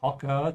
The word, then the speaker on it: Hocker: There's also a dot under the O of Hocker to tell you that the emphasis when you pronounce is on the O.